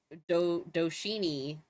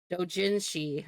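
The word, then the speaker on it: 同人誌: Um, do Yeah, I thought it's pronounced Doshini. Is it not? Well, my bad. If it's not pronounced like that. How do you pronounce it? I'm gonna look this up. Open new. See. Pronunciation. Let me see. Oh, Dojinsi she is how you pronounce. Oh, well, Dojinshi.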